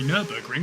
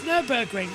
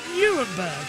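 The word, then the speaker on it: Nürburgring: for some reason acally Megan can never pronounce nurburging she always calls it Newberg for some reason accidentally my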